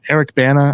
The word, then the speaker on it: Eric Bana: Stan so I love Toby um the uh Eric Bana I think is how you say his name